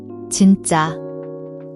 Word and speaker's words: 진짜: Watch your pronunciation, the sound is a soft J, almost like CH in cheese but voiced. The double is tense, a stronger, sharper JJ sound.